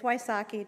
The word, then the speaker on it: Wysocki: I got that straight it's Wysocki just like ice hockey so he mispronounced it